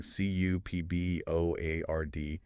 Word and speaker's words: cupboard: Usually in a cupboard. exactly. Like a cabinet in the kitchen. And remember the spelling, C U P B O A R D, but that P is silent.